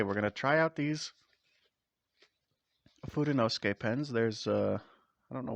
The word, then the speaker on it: Fudenosuke: Um, it's called the Tombow Fudenosuke, or if you've played Onimusha, you know it's pronounced Fudenosuke, much like Samanosuke.